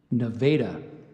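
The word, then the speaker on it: naveta: School correct okay all right your word is Nevada Nevada n a v-a-d-a Nevada I need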